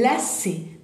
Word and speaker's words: lacet: Un lacet. Fíjense, termina en T, la T en final, ya dije, no se pronuncia, y es la C, C.